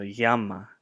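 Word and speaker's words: γάμμα: And then gamma, but in Greek, depending on where it falls in the word, this would be pronounced gamma, gamma, or even more so yama, yama.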